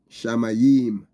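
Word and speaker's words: שמים: The word here, Shamayim, is the Hebrew word, and is spelled Shin, Mem, Yod, and Mem, Shamayim.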